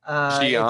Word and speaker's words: Xi'an: It Xi'an. sounds like Xi'an. Yeah, it's. I initially thought it was spelled with an S.